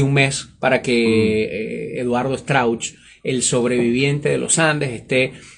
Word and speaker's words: Strauch: de los 16 sobrevivientes el señor Eduardo strauch así se pronuncia Eduardo stra correcto uruguayo que no solamente